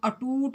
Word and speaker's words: अटूट: जैसे ये अटूट था, इसको हम अटूट बोलते हैं, तो ऊ के ऊपर हमने जब उच्चारण किया तो काफ़ी हमने दबाव दिया है।